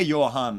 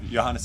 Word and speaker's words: Johannes: letters okay so i'm so usually the last syllable in my name turned into a confused look hey johan and then they're look like deer in headlights it's like when people call you know pronounce uh glen livet scotch like i believe it's glenn levay no johannes is good they try their best